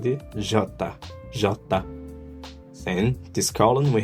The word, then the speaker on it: jota: The J is pronounced like the J plus an A in Portuguese. So Jota, Jota, Jota. Then we have the J, it's called the Jota, Jota.